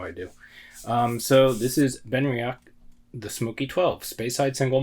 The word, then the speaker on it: Benriach: Today we have, I did look it up to make sure I was pronouncing it correctly, and it seems to be pronounced Benriach or something close to that.